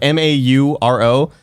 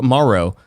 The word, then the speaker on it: Mauro: So it's M-A-U-R-O. People go Mauro. It's like, no, yeah. it's Mauro.